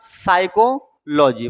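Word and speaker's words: psychology: साइकोलॉजी मतलब मनोविज्ञान। तो इसमें यहां से साइको यह हो गया साइको। यह हो गया लॉजी। तो पी का भाई क्या काम है? तो ये साइलेंट वर्ड है।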